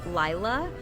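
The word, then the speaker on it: Laila: And the one that I always like to smell is called Llaya. It's spelled L A I L A.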